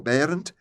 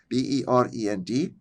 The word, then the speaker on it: Berend: The father's name was Berend or Berend, Berend. I'm pronouncing them the Dutch way, and there's a story behind that too, because where I lived in Friesland, their home language was not Dutch.